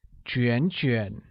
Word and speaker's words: 卷卷: Curly translates to 卷卷 which is the same word pronounced twice, with a falling rising tone on A, like 卷卷. Good!